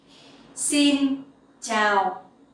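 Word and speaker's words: xin chào: ciao Tao sin down the X sound you will pronounce like in English like the S sounding language okay it's like in space so scene and the sound Cho in ciao you can pronounce like in the champion ciao ciao uh that is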